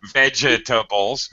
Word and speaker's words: vegetable: four syllables I'm sorry vegetables vegetables um Americans pretty much drop that second syllable we say veget vegetabl